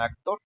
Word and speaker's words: actor: Y lo mismo pasaría con actor. Actor. Actor también es aguda porque la sílaba tónica es la tor, o sea, es la última sílaba, ¿no?